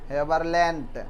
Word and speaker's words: Haberlandt: बाद जगह होगा ना, HABERLANDT, हेबरलैंड, डी साइलेंट होता है।